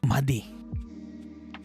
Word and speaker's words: Mahdi: Okay, Mahdi.